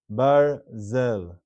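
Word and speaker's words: ברזל: Barzel.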